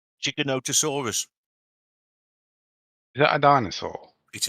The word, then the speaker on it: Giganotosaurus: o t o so it's like Giga as in gigabyte yeah Noto no and then sorus they were very scary